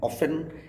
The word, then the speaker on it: often: टी अग के बाद टी साइलेंट हो जाता है अगर ये एफ के बाद आता है, जैसे कि OFTEN ऑफन, LISTEN listen, FASTEN फसन, SOFTEN सॉफन। T silent हुआ करता है लेटर सी से, सी